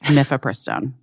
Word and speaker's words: mifepristone: Mifepristone.